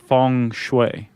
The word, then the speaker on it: feng shui: If it's Mandarin that we're speaking, Chuck, yeah, we should say funue. Funue. Fun. I guess I usually say it in Mandarin. Funue.